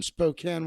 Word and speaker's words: Spokane: Michael Chiesa from Spokane, Washington, even though it's spelled Spokane.